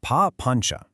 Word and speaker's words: papañca: It's pronounced papañca.